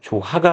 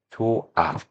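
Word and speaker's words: 좋아: 자, 또한 받침 히 오는 모음으로 시작되는 어미나 전미서 결합되는 경우. 자, 이런 경우는 소리가 나질 않아요. 그래서 그대로 웃으이 탈락이 됩니다. 조하가 아니라 조아 이렇게 보시면 되겠죠.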